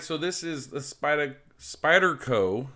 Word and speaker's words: Spyderco: this is the spider spyderco i gotta make sure i say it right i keep dropping the r off for some reason spyderco uh website here